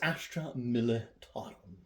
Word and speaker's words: Astra Militarum: It is the proper pronunciation for the Guard is Astra Militarum.